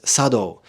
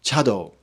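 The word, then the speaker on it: 茶道: warrior class T schools will use Sado as the preferred pronunciation rather than chado the the difference in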